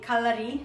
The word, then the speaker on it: Calari: Actually, Calari is the correct pronunciation in Italian, but I understand a lot of American people won't pronounce it correctly.